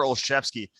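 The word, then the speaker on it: Olszewski: reconcile with the way that you know it's pronounced yeah so it is gutter olshevsky it is the the spelling of the last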